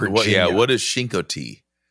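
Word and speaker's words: Chincoteague: It sounds a lot different than it's spelled. It is spelled C H I N like chin.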